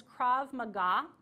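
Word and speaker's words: Krav Maga: recommend is taking a self-defense my recommendation is crav Maga that is spelled k r a v as invictor Mah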